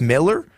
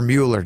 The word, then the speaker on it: Mueller: And at The Athletic, there was a ranking done by Randy, I think it's Miller or Mueller, Joshy. I think you're right with Miller. I think it's Miller, but it's spelled Mueller.